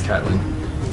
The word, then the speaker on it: Catelyn: I've also heard her name pronounced Caitlin, but I think it's Catelyn.